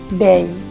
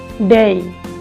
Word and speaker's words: day: DAY এটার উচ্চারণ হচ্ছে, অনেক মজার বিষয় হচ্ছে এটার উচ্চারণ হচ্ছে ডেই। আমরা কি বলতাম? ডে, ডয়েকার ডে, কিন্তু না, এটা হবে ডেই। ডেই ব্রিটিশ অ্যাকসেন্টে শেষে ওয়াই থাকলে সেটার উচ্চারণটা আয়ের মতো হয়ে যায়, ডেই ডেই।